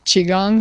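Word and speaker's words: qigong: to spell that because I would never have pronounced it that way Chiang it's uh q i g o NG n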